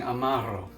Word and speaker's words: Amaro: cocktail we are using Amaro yes roll your r's for this one guys uh Amaro is the